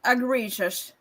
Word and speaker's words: egregious: So, it's pronounced agreious.